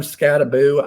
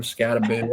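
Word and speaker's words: Skattebo: you mentioned cam scaboo I like calling him cam scabo I'm stick with that because it just sounds cool and I believe that's how he actually pronounces it and I hate when guys on the SPN pronounce it scabo it's just like come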